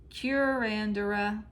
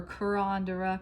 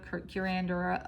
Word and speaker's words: curandera: new for me the is how you say that it's cure c-u-r-a-n-d-r-a curandera or carondera curandera of water so in this particular